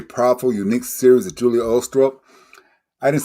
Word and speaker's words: Ulstrup: be a very powerful, unique series of Julia Ulstrup. I didn't say it right, Julia. Say it right for You me said again. it correctly, Glenn. Ulstrup.